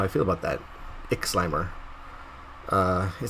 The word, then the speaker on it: Ixlimor: Ixlimor. Ixlimor. Yeah, I don't know how I feel about that. Ixlimor.